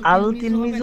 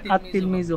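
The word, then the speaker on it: التلميذ: আলিফ লাম যুক্ত হলে লাম হরফটি উচ্চারিত হয় না বরং লামের পরবর্তী হরফটি তাসদিদ যুক্ত রূপে উচ্চারিত হয় আল্লাহ অর্থাৎ এই 13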